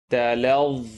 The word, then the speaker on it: تَلَظَّى: Talazza, talazza, talazza.